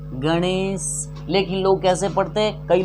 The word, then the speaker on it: गणेश: इस ण का उच्चारण मूर्धा से होता है।